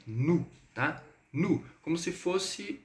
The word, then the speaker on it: nous: E o S aqui a gente não vai pronunciar.